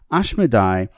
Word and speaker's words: Ashmodai: the king of demons ashmodai ashmodai is the original spelling and pronunciation of the demon Asmodeus I will discuss him